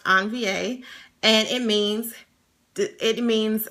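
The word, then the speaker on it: envie: of different words and on va is spelled e n v i e um it's french pronounced on va and it means it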